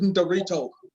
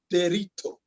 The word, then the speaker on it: Derito: My name is Ndorito, because the young man cannot say Derito.